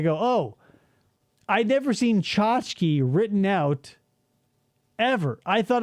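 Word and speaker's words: tchotchke: Chachki, it starts with a T. It sounds like it starts with a ch.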